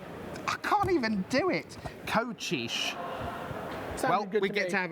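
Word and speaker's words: Kocsis: it turns out that K CS i s coxis apparently not it's pronounced coish coish gabo coish okay um because apparently CS is CH H and S equals sh in Hungarian there's a lot more shush and sure than I was expecting so there we are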